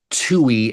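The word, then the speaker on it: Touhy: Now, Chicago has a street uh, a relatively busy street called Tui Avenue. It's spelled t o u h y.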